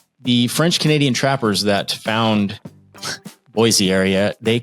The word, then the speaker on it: Boise: So pronouncing Boise versus Boise. Boise is the way it's supposed to be pronounced. It doesn't ring in my ear. I say Boise, but if you go down there and you say Boise, they know you're not from there.